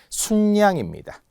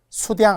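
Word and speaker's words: 숫양: 순양입니다. 수량 아니에요.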